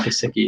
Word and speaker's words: Gesicki: Just because he has a Gesicki, is that how it's pronounced? Gesicki? Yeah, Mike Gesicki.